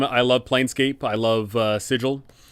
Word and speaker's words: Sigil: love planescape i love sigil it's technically pronounced sigil by all accounts however sigil just sounds so much better so whatever um so